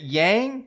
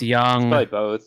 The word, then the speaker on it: Yang: there foreign all right is it yang is it young it's young i've i've been saying it wrong my whole life there's always the remake for four that's young yeah young okay young like a long like you know a like a british yang young young okay just